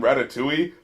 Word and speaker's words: Ratatouille: and wait a minute did he just pronounce the L in Ratatouille like some kind of